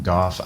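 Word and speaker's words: Gough: people call him go some people call him goff i choose goth because of the way it's spelled that's very good carving let me show you what that does real quick um i choose golf because every other word that starts with a consonant and it's spelled like that that's how you say it rough you know anyway very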